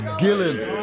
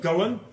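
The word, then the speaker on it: Gullane: The correct pronunciation is Gillan. That's what you say. We ordinary folk, we call it Gullan, which is what it is.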